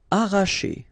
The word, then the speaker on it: arracher: Arracher. Okay, don't pronounce the double R, sorry, it's just like if you would have only one.